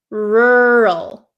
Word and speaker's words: rural: for you okay so this word is pronounced rur rur do you see how my mouth doesn't really open or doesn't really move around that much okay rural rural rur okay so